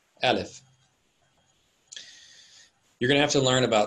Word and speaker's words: Aleph: It's pronounced exactly the same way. Aleph.